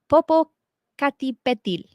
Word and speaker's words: Popocatépetl: But it is Popocatépetl.